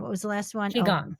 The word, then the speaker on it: Qigong: Qigong. Qigong. Okay. QI. It's spelled QIGONG.